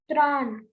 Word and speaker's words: train: Beta, train in French is called train with the same spelling. Only there is a difference in pronunciation. Tran.